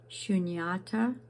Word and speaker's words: shunyata: Shunyata is emptiness.